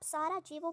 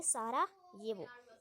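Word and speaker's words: Sarajevo: यह जो European countries हैं यूरोप की जो हमारी इंग्लिश है उसकी एक्सेंट देखी जाए तो उसमें जे को हम क्या पढ़ते हैं? जे को हम वाई पढ़ते हैं। तो इससे आप सारा जे वो प्रोनाउंस बिल्कुल भी नहीं करेंगे। ये रॉन्ग हो जाएगा। इसे हम प्रोनाउंस करेंगे। सारा ये वो ये बिल्कुल ही करेक्ट हो जाएगा।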